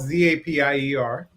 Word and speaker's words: Zapier: know and it's it's it's spelled z-a-p-i-e-r um it's a zapier like if you want to be happier and what makes it